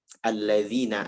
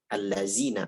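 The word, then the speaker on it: الذين: Contoh, alladzina amanu. Dibacanya allazina amanu. Bahkan itu saya dapatkan sebagian dai gitu. Dai bacanya begitu. Mau dipakai ceramah, apalagi dipakai dalam sholat, jangan dibaca allazi.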